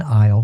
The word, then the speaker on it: aisle: they call them Isles so the S is silent it's a i s